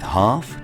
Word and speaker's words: half: In lion, for example, we pronounce it loudly and proudly, whereas in walk, we never pronounce it at all. Or in calm, palm, or calf. Same thing with half, chalk, talk, and folk.